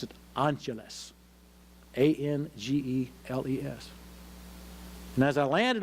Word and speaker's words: Angeles: I could see by the name tag on above his left breast pocket that his name was, I learned, as he pronounced it, Angeles.